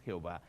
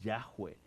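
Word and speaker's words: Yahweh: vocales lo traducimos como yahwe y algunas versiones de la Biblia Usan el nombre Jehová para hablar del nombre de Dios la traducción correcta No es Jehová es yahwe porque el nombre original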